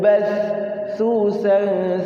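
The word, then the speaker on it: ب: ee huruf mad kemudian Ba Itu huruf bibir ba ya Harus dua bibir Ya kalau satu bibir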